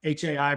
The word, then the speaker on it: Hai: High comes from um Hai pronounced just like you know H hello um so yeah a